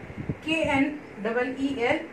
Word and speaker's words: kneel: K-N-E-E-L, kneel means bow. Though the word is starting with K, the sound of K is silent here, and the words sound starts with sound N.